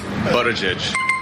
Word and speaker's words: Buttigieg: How do you pronounce this? Buttigieg.